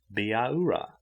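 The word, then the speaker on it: Bihaura: a it sounded like baura with every syllable sharply emphasized she took charman by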